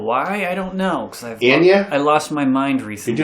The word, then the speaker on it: Ani DiFranco: Because Anya? I lost my mind recently. You're doing the Anya? Annie? So Ani DiFranco? Ani DiFranco. It's pronounced DiFranco.